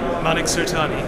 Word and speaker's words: Manik Surtani: And I'm not going to screw up Manik's name, so I'm going to let him pronounce it. And it is? Manik Surtani.